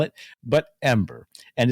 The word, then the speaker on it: Em8er: for why the plant's name e-m-a-d-r but it's pronounced ember not m ater as so many have tried to convince me to call it but ember and it's actually in the japanese and the